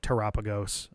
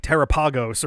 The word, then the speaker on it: Terapagos: But if it's like Terapagos or something, it's like, no. You get singular emphasis on either the te or preferably the ra. The final two syllables, secondary emphasis at best.